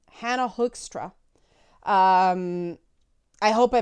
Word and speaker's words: Hoekstra: her last name hannah hoekstra um i hope i pronounced that correctly because we say hoeic like ren hoek from ren and stimpy i've been told that's wrong so i'm attempting it's